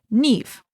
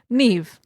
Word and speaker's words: Niamh: it is actually pronounced Niamh. So we did our research before we started. Well, thankfully it's like an actual Irish name and not some just like random conglomerate of letters that are hard to pronounce.